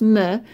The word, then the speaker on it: me: It's pronounced me, and that's going to basically mean, let me zoom down, to or for me.